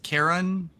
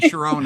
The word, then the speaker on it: Chiron: uh Well, it so the correct pronunciation is Karen. Yeah. Or Okay. Thank you. Mythology class from the Greek teacher. Oh, good. Because I was saying Chiron all this time.